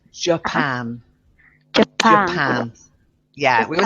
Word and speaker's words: Japan: one is very important it's yeah it's not jack pan it's Japan kept our hands yeah we say don't ask